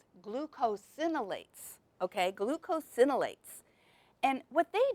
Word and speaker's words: glucosinolates: And it's called glucosinolates. Glucosinolates, okay?